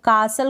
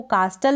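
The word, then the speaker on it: castle: तो कासल को कास्टल ना पढ़ें, ऑफन को ऑफ्टन ना पढ़ें, लिसन को लिस्टन ना पढ़ें। तो ये आप ध्यान रखें, इन तीनों स्पेलिंग्स में T साइलेंट है।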